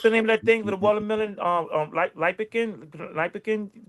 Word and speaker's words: lycopene: Lipicin, pronounce it? Colchicine. COLCHININE. Colchicine. No, it was another thing you mentioned. It's called lipicin in the watermelon or something like that. Lycopene.